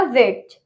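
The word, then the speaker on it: wedge: Okay, और next है हमारा वेज। वेज में भी डी साइलेंट रहेगा, क्यों? क्योंकि जी आ रहा है उसके बाद, तो हम वहां पे डी को साइलेंट रखेंगे।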